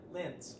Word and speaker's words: Lentz: And our special guest today is Christina Lentz. Am I pronouncing that correct?